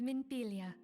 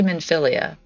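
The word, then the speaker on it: Minfilia: friend my name is minpilia and I lead the science Dawn I always say men philia and I've been saying it wrong the last two and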